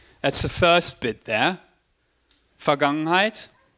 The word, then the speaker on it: Vergangenheit: That's the first bit there, Vergangenheit. The German V is pronounced with a F, so that's why I said Vergangenheit and not Vergangenheit.